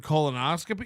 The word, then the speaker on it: colonoscopy: a Shuley skit about not knowing the word colonoscopy. You knew it. You can hear him fake pronouncing it. It's fake. Oh, however you say it. What is it called? A colopostony?